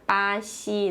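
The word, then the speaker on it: 巴西: Esse bra aqui fica com um som parecido com esse ideograma em chinês, em mandarim, que é pá, e o ziu aqui fica parecido com a pronúncia desse ideograma, né? Xi, né? Fica pá, xi, né?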